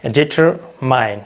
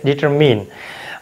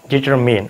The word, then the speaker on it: determine: Okay, you সে ডিটারমাইন, বাট the correct pronunciation of this word is ডিটারমিন। Although there is I-N-E ইন the double syllable, but you have to সে determine, okay. The correct pronunciation of this word is determine.